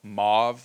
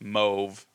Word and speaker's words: Mauve: The name of the bar is called mauve, like the color pronounced mauve correctly, but mauve, it's a famous color from the 70s.